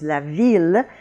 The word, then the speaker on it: ville: The French word for city, of course, is la ville, and that is pronounced il.